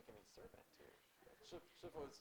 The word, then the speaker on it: Shifu: Yeah, by the way, Sifu is supposed to be pronounced Shifu.